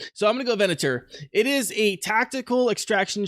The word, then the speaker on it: Venatur: The developers of Venatur. Venator? Venatur? Something Italian. Centaur, but with a V instead. Yeah. So I'm going to go Venatur.